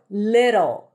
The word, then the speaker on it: little: So little little flap ty little it sounds like your tongue goes up touches the upper pallet really quickly. It sounds like a very light D.